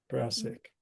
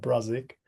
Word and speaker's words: Brassic: No, it's pronounced brassic. Not brazic. Brassic.